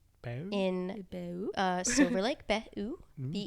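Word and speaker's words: Be U: Behu, Okay. BE space U, but I believe it's pronounced Behu.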